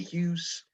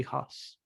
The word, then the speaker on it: Huss: Ella Hunt, Jane Karowski, Toby Hughes, or Hughes. Hughes. He has a weird sounding last name. I'd pronounce it Toby Huss.